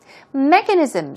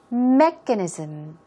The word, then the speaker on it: mechanism: beginning point of something mechanisms simply put it means technique procedure means or Method Keep in mind stress goes right there on the first syllable let's do it two times mechanism mechanism and reassess here